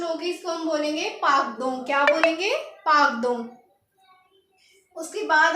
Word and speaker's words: pardon: उसके बाद पार्डन, PARDON, इसकी प्रोनाउंसिएशन होगी PAHRDOHN। तो इसको क्या पढ़ेंगे? पार्दों।